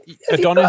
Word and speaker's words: Adonis: Is your correct pronunciation? Yeah, Adonis.